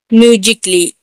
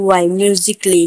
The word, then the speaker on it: musically: जैसे म्यूजिकली, MUSICALLY, म्यूजिकली। म्यूजिकली में यहाँ पे देख डबल एल वाई के आगे ए है तो ए यहाँ पर साइलेंट होगा।